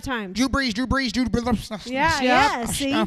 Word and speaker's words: Drew Brees: It's Drew Brees. I beat you. Say it 5 times. Drew Brees. Yeah. See? Say it. Drew Brees. Say it 5 times. Drew Brees. Yeah. Okay. Blue cheese. Drew Brees.